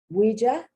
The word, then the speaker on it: ouija: to show you that the oh you has a can also have the wah wah wah sound this is from french ouija now they owe you